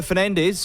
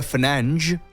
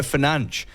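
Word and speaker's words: Fernandes: it's a good signing Manchester United Captain Bruno Fernandez or as it is correctly meant to be pronounced Bruno fange that's how you meant to pronounce it Martin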